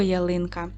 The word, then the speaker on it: ялинка: Далі на наступному рядочку запишіть слово ялинка. Поставте відео на паузу та виконайте звуковий аналіз цього слова. Давайте перевіримо. Поділимо слово на склади. Я линка. Наголос падає на другий склад.